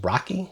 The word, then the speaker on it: RoCE: By the way, Roce, that's pronounced Rocky because networking needs more mascots.